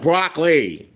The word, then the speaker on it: Broccley: As my as the eyes of Broccley, the original Brocc was me.